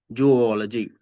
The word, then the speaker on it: zoology: Even though no hyphen is used in the spelling to indicate such separation, say zoological, zoology, zoology, zoology కాదు zoology, geological, zoo.